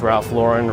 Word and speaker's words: Ralph Lauren: Ah, it's Ralph Lauren. Rhymes with foreign.